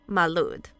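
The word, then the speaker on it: Mari Lwyd: The rap-battling horse skull of South Wales, the Mary Lod, Welsh pronunciation Malud, is a wassailing folk custom found in South Wales.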